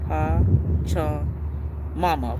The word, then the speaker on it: Pachamama: I think is the plant that goes with this is pa chama pa cha mama pachamama. That's how you pronounce it.